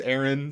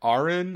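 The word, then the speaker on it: Aran: it doesn't sound right it said it said in one of the games as Aaron so I'm gonna go with that but man I don't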